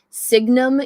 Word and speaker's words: Signum: like themes okay so i pronounced it wrong it's called signum university and there's a